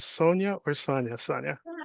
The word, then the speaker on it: Sonya: Um I don't know if it's pronounced Sonia or Sonia. Sonia, I was going to say Warren, you were so close, but it's Sonia.